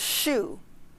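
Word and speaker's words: 嘘: And the healing sound, if I just say the word, is shu, okay, like the shoe on your foot.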